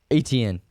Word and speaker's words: Etienne: Travis Etienne.